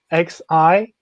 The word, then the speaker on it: Xinjiang: It's Xinjang.